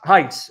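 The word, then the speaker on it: εἷς: The Greek renders Yahweh Echad, as Kyrios Eis or Kyrios Heis, if you want to pronounce it the Erasmian way.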